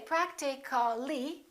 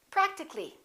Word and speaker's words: practically: like that practical practical we don't say practically we drop the a and we say practically physical how would we